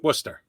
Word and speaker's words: Worcester: to get wrapped up no no it's worcester you pronounce it the worcester railers